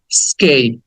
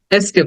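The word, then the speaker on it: escape: বলি কারণ এটা ই দিয়ে শুরু হয়েছে বাট উচ্চারণ হবে স্কেপ ই স্কেল স্কেপ এস্কেপ না স্কেপ এবং লাস্টে একটা এই হ্যাঁ স্কেট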